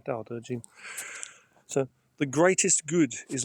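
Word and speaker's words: Dao De Jing: It's pronounced da da jing. As I say, da da jing.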